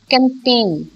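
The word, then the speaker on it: campaign: कैंपेन, कैंपेन जब आप पढ़ते हैं तो you pronounce it एज कैंपेन, PAIN, so G is silent.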